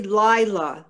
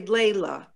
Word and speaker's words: Layla: is hebrew and arabic it's really lila like night lila but they say layla arabic and hebrew yeah lila but they're pronouncing it layla my mother is the